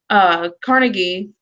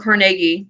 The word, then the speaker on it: Carnegie: a man-made lake for Carnegie or Carnegie, depending on how you pronounce it, for him and all of his little rich buddies to hang around and play in.